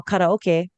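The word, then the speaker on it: karaoke: that's why you know karoke yes that is how it's um supposed to be pronounced everybody um is Japanese um so that's why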